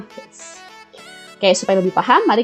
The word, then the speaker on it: Hertz: Ditulisnya Hz, dibacanya Hertz.